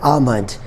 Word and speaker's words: almond: Third rule is L is also not pronounced when it is in the middle of A and M. For example, almond, A-L-M-O-N-D, almond.